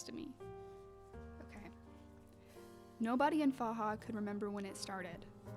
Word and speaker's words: Faha: It's about a town in Ireland named, I think it's pronounced Faha, at least that's how I've been saying it. It's F-A-H-A.